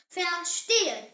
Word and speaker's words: verstehen: In German, V is actually pronounced like the English letter F. Yes, F. Not V like in English, but F. So German V equals F sound. The example word is verstehen. Say it, verstehen.